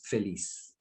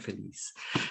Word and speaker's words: feliz: i'm sure in spanish it's felice right did i say it right feliz so um exuberance is